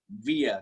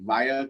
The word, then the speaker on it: wire: Both are correct.